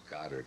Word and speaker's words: Goddard: the French movie director mrs. Goddard was an American it would be pronounced Godard wouldn't it Goddard was the only